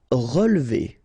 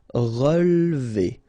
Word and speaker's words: relever: Relever. Okay, so first re, then we don't insist on this here. So, relever, relever.